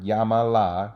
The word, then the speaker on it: llámala: Starting at the end of the word, llámala, including the pronoun, I got to count back 3 syllables. La is 1, ma is the second syllable, and then the ya right here is the third syllable. So since there's so many syllables, I have to add an accent mark over the a.